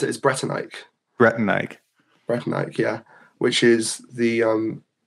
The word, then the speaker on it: Bretannike: Like, you said it already, but the way I pronounce it is Bretannike. Bretannike.